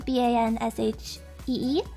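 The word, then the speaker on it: bean sidhe: the banshee that everybody in the west knows b-a-n-s-h-e-e is actually the it's pr it's spelled b-e-a-n-s-i-d-h-e banshee but it's pronounced she there's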